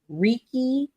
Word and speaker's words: Reiki: you correct me she did some type of Reiki yes Reiki uhuh I'm a raiki master as